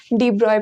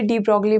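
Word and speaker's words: de Broglie: डी ब्रॉय पढ़ते हैं इनको, बट स्पेलिंग को मतलब डी ब्रॉय पढ़ते हैं, बट आप याद रखने के लिए डी ब्रॉगली बोल सकते हो। डी ब्रॉगली भी बोलते हैं कई लोग, तो मैं भी डी ब्रॉगली बोलने वाली हूँ यहाँ पे।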